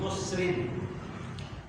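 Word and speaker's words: خُسْرٍ: Ketika Allah Subhanahu wa taala mengatakan lafi khusrin, khusrin di sini tidak pakai alif lam, tetapi pakai tanwin, khusrin.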